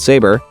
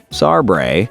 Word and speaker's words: Sabre: electronics company in Florida called Sabre, or as everyone in the office mispronounces it, Sarbre, bought out the company.